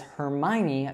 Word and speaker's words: Hermione: But now we tend to accept the way that it was pronounced in the movies. So this is pronounced as Hermione Granger.